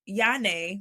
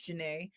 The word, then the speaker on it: Jahnea: Um, and so I recently found out that in Hebrew, Yane, which is the same as Janae, my middle name is spelled Jahnea.